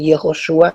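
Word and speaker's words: Yehoshua: pronunciación de jesús y ya sabemos que en hebreo se dice yehoshúa y tardíamente se dice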